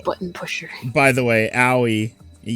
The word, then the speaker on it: Aoi: By the way, Aoi... Aoi? How do you say it? Owie.